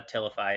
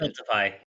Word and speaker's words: Tiltify: Is it Tiltify? Did I say it wrong? I did. Tiltify. I said it Oh, good. wrong. Okay, I I said lost it the T.